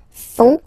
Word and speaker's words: font: And ils, plural, font, final T not pronounced, font, elles font.